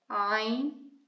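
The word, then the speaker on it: ع: Ayn, ah.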